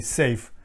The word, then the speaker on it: SAFe: scaled agile framework so it's spelled like saf with the small e safe so safe scrum master